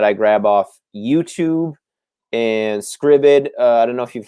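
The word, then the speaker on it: Scribd: footage uh that i grab off youtube and scribbid i don't know if you've heard of scribben uh sam it's it's spelled s-c-r-i-b-d dot com and you basically can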